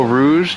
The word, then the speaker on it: Rouge: Oh, Rouge? You were just letting me say you Rose this whole time?